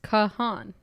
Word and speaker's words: Kahan: per Google I said how do you pronounce Noah Kahan and it's Kahan s is that how